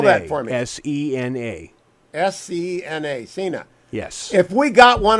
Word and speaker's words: Sena: No, that is a Cena helmet.